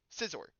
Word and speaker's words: Scizor: So Scizor is the correct pronunciation.